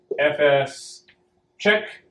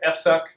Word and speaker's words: fsck: is a a tool on unix fs check ffck which apparently uh some people who are not fans of this tool pronounce f suck but it says when